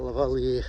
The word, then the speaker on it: lavalier: away but uh i've got a lavalier on the valley and i pronounce it correctly a lavalier lapel mic but it's